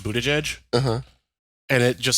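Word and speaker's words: Buttigieg: him partly because his last name is actually pronounced Buddha jej uh-huh and it just sounds vaguely like booty judge which you know is all the more fitting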